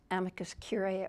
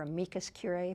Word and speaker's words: amicus curiae: And that's amicus curiae or amicus curiae. People love to pronounce that concept different ways.